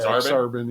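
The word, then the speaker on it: Aksarben: Exarban, That's the word.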